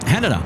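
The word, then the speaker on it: Haneda: uh and he said hanada just like Canada but with a h oh okay so I've I've uh I've started saying hanada for that reason well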